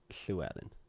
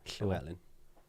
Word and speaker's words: Llewellyn: Llewellyn. Oh, that's how it's That's how pronounced. you're supposed to say Oh, okay. Yeah, I've been Yeah. saying that wrong forever. it. Yeah, Llewellyn.